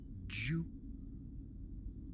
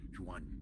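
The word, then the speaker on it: 菊: The golden flower in Mandarin is said Ju, which sounds like the word in Mandarin to live, Ju, and also to persist and endure, Jiu.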